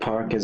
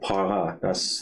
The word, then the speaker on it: parka: That para, that's wrong. So it's parka.